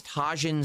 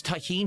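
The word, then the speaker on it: Tajín: It's pronounced taheen.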